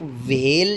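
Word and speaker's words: whale: इसमें हे को आपने साइलेंट करना है। बेशक वेल जो है वो इसकी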